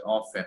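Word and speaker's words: often: এখানে টি এর উচ্চারণ কিন্তু উচ্চ, ঠিক আছে? উচ্চারণটা কি হচ্ছে অফেন? হ্যাঁ, স্যার, অফেন, অফেন টি এর উচ্চারণ কিন্তু উচ্চ, অফেন।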